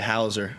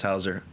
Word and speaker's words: Hauser: A lot of people say Hauser. I mean, it's pronounced Hauser.